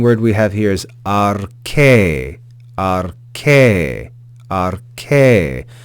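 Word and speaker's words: ἀρχῇ: The second word we have here is arche, arche, arche. Notice that iota subscript is not pronounced. We just read that eta with a rise and fall of pitch on that vowel.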